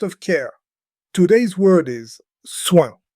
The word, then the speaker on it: soin: Today's word is soin. Say it with me, soin. Listen for the nasal sound at the end.